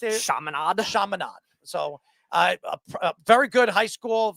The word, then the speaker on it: Chaminade: How do you pronounce it? Chaminade.